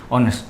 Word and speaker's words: honest: देखो हमने इससे पहले आर्टिकल की जब बात की थी तो ऑनेस्ट, तो ऑनेस्ट को हम लिखते थे HONEST, लेकिन उसका प्रोनाउंसिएशन करते थे ऑनेस्ट।